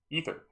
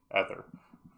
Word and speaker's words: ether: an item to grab ether or as I pronounced it as a kid either but I will I will try to pronounce it more properly got more enemies um